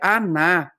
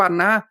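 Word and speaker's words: ἀνά: de perversão tá certo o p aqui em grego ele é avá né que pronuncia aná e e ele não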